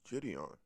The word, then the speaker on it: JiDion: she's calling something different nobody knows how to say this guy's name yeah it's jitty on john's like it's simple it says right there judy there's four million subscribers who know how to say his name honestly never heard of